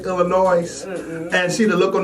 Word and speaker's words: Illinois: You know we Gary folks don't pronounce Illinois without the S.